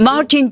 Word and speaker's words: Martin: C'est un homme, mais c'est Martin si vous préférez, mais on prononce Martin évidemment à l'anglaise.